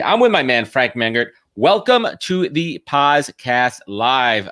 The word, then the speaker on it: Mengert: ask you this off what's what's the proper pronunciation of your last name man Gert man Gert yeah cool man Gert let's fix that up what up everybody tuning